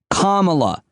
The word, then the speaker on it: Kamala: to pronounce her name just think of the word comma the punctuation comma kamala i i haven't forgotten